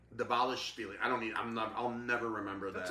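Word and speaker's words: Dvalishvili: Davalishvili. Davalishvili.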